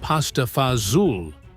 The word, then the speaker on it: pasta e fagioli: Pasta e fagioli, often pronounced pasta fazool in Italian-American neighborhoods, represented survival transformed into comfort.